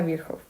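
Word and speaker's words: Virchow: como tríada de viejo ya sé que dice se pronuncia viejo va que consiste en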